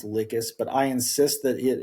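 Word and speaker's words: Lhykis: He also sends I know it's I know it's supposed to be pronounced Licus, but I insist that it is Licky.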